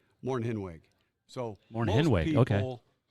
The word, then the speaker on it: Mornhinweg: It's a German name. It's 3 syllables. M-O-R-N, Morn. H-I-N, pronounced H-E-N, hen. W-E-G, pronounced W-I-G. Mornhinweg. Mornhinweg.